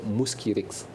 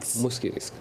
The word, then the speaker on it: Mosquirix: Le nom commercial sur lequel le vaccin va être mis sur le marché, c'est Mosquirix. Mosquirix.